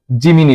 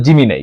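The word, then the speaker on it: Gemini: এসে আমি সার্চ করব জিমিনি লিখেজিনাই এটার আসল উচ্চারণ হল জিমিনাই ঠিক আছে এই জিমিনাই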